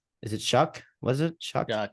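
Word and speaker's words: Shough: how Tyler's show is it Chuck was it shock it's pronounced Chuck and I was told that by Texas Tech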